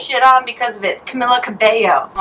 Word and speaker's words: Camila Cabello: Camila Cabello. That's not how you say it. And I got shit on because of it. Camila Cabello.